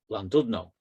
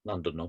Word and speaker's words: Llandudno: the goats who overrun Llandudno. And I wrote this poem only for then somebody to tell me that it's not pronounced Llandudno, but Llandudno.